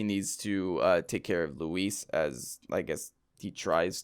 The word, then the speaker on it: Luis: Louis. No, not Lou. So pronouncing it like it's French. So Louis! that ends chapter 3.3-3. So Luis unfortunately has perished.